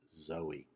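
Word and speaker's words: Zoë: syllable gets the accent the diaeresis two dots above the letter is in the name Zoe and this shows a vowel being pronounced where it normally would be silent didn't have that diuresis we might want to call this person though the diaeresis tells us that it is indeed Zoe and then the circumflex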